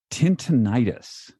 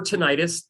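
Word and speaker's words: tinnitus: one more thing I want to ask you tinius what is that so tinius or ttis dep tomato tomato right Everyone likes to debate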